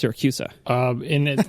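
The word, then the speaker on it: Siracusa: never actually answered the question did you it's pronounced syracusa um in it like I said in its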